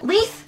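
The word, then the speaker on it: Leith: place Lisa place Anantha probably lieth pronounced l ee th as if you wouldn't think that anyway with the spelling of it oh poor for district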